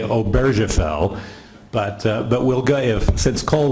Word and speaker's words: Obergefell: How would you pronounce it in German? Obergefell. Okay. I was a French-speaking missionary, so I'm inclined to say Obergefell.